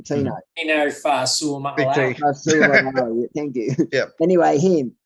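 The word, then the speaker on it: Tino Fa'asuamaleaui: Tino Fasuamiasale.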